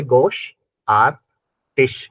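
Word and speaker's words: großartig: रहा है वंड बा ग्रेट को बोलते हैं गोश यानी कि ये बना गोश आर को साइलेंट करो गोश ए आर को बोलते हैं आर और टी आई जी को बोलते हैं टश यानी कि तीन चीजों से मिलके बनाई है गोश are touch Gauss आर्टिस Gauss are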